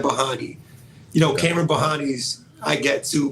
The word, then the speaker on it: Bahani: There's different ways to pronounce it. So. Kamron is how you can do it, and then Bahani.